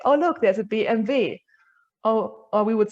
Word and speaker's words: BMW: little fun fact um we obviously pronounce these car brands in german in germany so we will not really say oh look there's a bmw we will say oh look there's a bmv or or we would